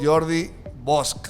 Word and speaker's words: Jordi Bosch: Me refiero al director general de Aguas de Saltillo, a mi amigo Jordi Bosch, decíamos en catalán, ¿verdad?